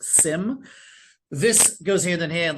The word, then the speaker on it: SIEM: After that, perfectly layered with it is security information and event management, SIEM, often pronounced SIM.